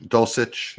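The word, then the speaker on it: Dulcich: see i like um dolcich dulcetch is how you say that um any of the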